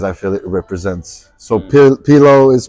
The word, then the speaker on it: P Low: feel it represents so P pillow is pillow as in pillow can you spell it P Das l o w but it's pronounced like pillow pillow white pillow pillow